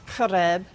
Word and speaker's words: Horeb: And Horeb, or excuse me, Mount Horeb, okay, which I pronounce Horeb in my reconstructed Paleo Hebrew, but it means something.